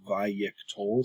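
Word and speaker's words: wayyiqtol: the paradigmatic katal form, that's the way you would pronounce it, is vayik tol.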